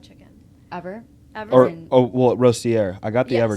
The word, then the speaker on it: Rostier: ROSTIER.